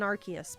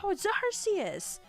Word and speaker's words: Arceus: name wrong how dare so originally i was an arceus person and then i was berated by a few people in our community saying no zarcias gotta say it right same sort of deal that happened with the whole rayquaza requisite thing and so i say rcs now no like i